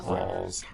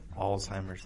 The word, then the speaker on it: Alzheimer's: do you say that that would get alltimers alltimers my bad Alzheimer's and it's not buding